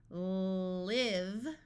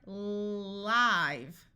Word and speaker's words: live: h a have now this word here can be pronounced two different ways you can have the verb live with a short I you can also have the word live where the E makes the I have its long sound so you may have